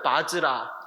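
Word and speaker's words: वज्र: 바즈라. 바즈라라는 뜻이에요. 바즈라가 중국 발음으로 우리 넘어서 우리나라 발음에 바라 이렇게 된 거예요. 아시겠죠? 원래 발음이 뭐다? 바즈라. 자, 도비는 향을 사루다.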